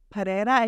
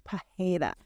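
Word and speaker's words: Pereira: the pronunciations correctly but I believe that the Brazilian R is more like a h like like Alex Pera is I think it's Alex Pera I've been hearing that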